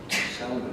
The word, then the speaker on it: Salmon: And the L is sounding, although it's spelled the same as salmon, so it's a fishy name.